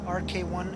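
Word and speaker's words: РК-1: as a side note we pronounce them rk1 and rk2 modes even though it looks like pk1 and pk2 because the alphabet character that looks like an english p in the russian language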